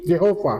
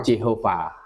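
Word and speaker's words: Jehovah: yang huruf mati semua Dikasih huruf hidup wah bacanya jadi Jehova Jehova gituah penerjemah King James pakai lafal itu Jehova itu jadi yang JH VH itu di dalam King James itu dibaca Jehova mereka memakai ee apa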